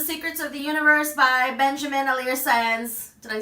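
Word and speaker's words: Benjamin Alire Sáenz: It's Aristotle and Dante Discovered the Secrets of the Universe by Benjamin Alire Saenz.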